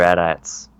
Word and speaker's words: AT-AT: binoculars and see the how do you say it 80 80s or at-ats I call matey 80s okay you can call me I just don't call them at I always call them 80s teas but for some reason